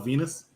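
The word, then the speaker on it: Venis: The rhymes with penis. Val Venus.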